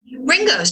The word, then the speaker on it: Ringoes: Place it's located in how do you pronounce that ringos ringos just like just like the beetle okay yeah man just